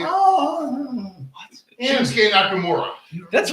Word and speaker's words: Shinsuke Nakamura: Shinsuke Nakamura.